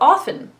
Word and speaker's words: often: The word soften, for example, or often. We don't pronounce the T. Some do for the word often, but generally speaking, we tend to drop that T.